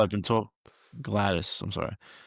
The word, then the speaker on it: Gladys: Gladdy. I've been told." Gladys.